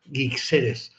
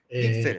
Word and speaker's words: Guixeres: Mi apellido se llama Guixeres. Gixeres, Tiene tela, perfecto.